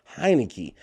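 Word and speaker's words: Heinicke: I'm sorry, that Heineke. That rhymes with Heineken.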